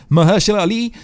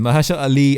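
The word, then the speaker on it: Mahershala Ali: was announced at San Diego comic-con it was Maher surely did I say it right okay so blade is coming maja shot Ally I believe that's how you say it the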